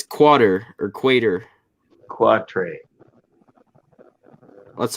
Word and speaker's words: quatre: Quatre.